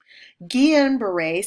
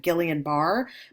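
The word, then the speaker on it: Guillain-Barré: Guillian beret syndrome. This is also a term that is mispronounced often. It looks like Gileian bar, but it's pronounced guillian beret syndrome.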